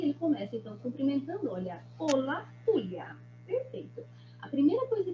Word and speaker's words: hola: A primeira coisa que a gente vê com esse saludo, com esse hola, é que esse H em espanhol, ele não tem som. Tá vendo que o som é mudo?